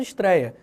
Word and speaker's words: estreia: da maneira como eram você não vai passar a falar estreia porque não tem mais acento em estreia claro que não você vai continuar falando estreia mas na hora de